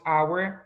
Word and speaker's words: hour: Decimos our, honest, no pronunciamos la H, de H, de consonant H.